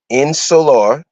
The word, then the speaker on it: insular: o at the end in solar like solar but ins solar okay i n s u